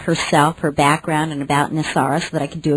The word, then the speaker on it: NESARA: It's been, in its acronym, it's pronounced NESARA, and what she can share today can fill